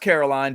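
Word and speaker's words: Karolina: is extra fancy because it's pronounced Caroline but she's polish and it's spelled with a k at the beginning and an a at the end it's fancy interesting yeah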